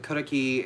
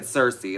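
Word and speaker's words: Circe: pan how they represented karaki and medea or i don't think the day was it was turkey they said cersei it's karaki um everything like that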